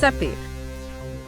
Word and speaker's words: Sappe: Pronounced seep. Pronounced seep.